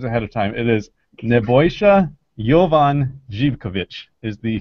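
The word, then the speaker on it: Nebojša Jovan Živković: It is Nebojsa Jovan Zivkovic is the correct pronunciation.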